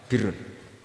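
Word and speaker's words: بِرّ: untuk masdarnya untuk kebaikan Bacanya apa Birun nanti kamu protes Oh Barun itu daratan Gus kalau Birun itu kebaikan Aku iku macahu kamus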